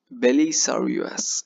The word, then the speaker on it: Belisarius: and then you can use Belas, what the pronunciation, yeah, Belisarius, yeah.